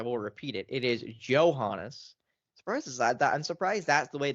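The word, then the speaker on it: Johannès: It is Johannes. I'm surprised that's the way they pronounce her last name.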